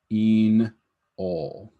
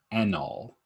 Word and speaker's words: enol: alcohol alken alcohol so enol is pronounced with a hard e inol not anol um it's in all I know it's kind